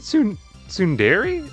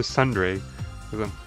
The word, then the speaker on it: Tsundere: Is it Tsundere? Is that how you say it? I've always been saying to Sundre. There's no... Oh yeah, there is an E in there. That would make sense. Tsundere.